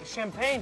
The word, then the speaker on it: champagne: You're adding champagne to the mojito. Yes, the French mojito. It's good, huh? Champagne. Champagne. Champagne. Oui, champagne. Champagne. Champagne. Champagne. You say champagne. And we say it like this. Repeat.